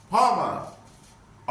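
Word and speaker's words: farmer: फादर इज ए फार्मर फार्मर आर is silent and vowel A will be long for फॉर फार्मर सर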